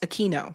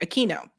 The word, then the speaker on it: Aquino: Aquino dressed for a demonstration for a satanic ritual in 1973. Very strange. Oh, thanks, Eric. Eric said it's pronounced Aquino. Sorry, Aquino.